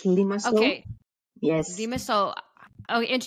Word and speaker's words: Limassol: Now, your practice, Kiki, is in a city, is it called Limassol? Is that how you say it? Limassol? Yes, that's correct. It's Limassol.